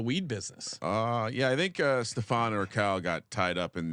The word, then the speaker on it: Stefan: Oh, Stefan instead of Steven. Apologies, Stefan. Like Stefan Marbury.